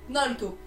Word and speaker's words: Naruto: Pourquoi il y a des gens qui viennent me faire chier en disant « Pour information, ça se prononce Naruto ».